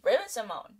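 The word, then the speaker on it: Raven-Symoné: it on my FY Raven Simone my name is pronounced Raven Simon Simone beloved from a lot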